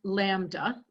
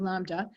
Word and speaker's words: lambda: So the letter we use here is a Greek letter, and it's pronounced lambda, if you have a better accent than I do, lambda, and that is the wavelength symbol.